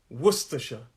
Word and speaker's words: Worcestershire: actual last syllable there's three syllables and the first syllable is where the stress is worcestershire it's my hand movement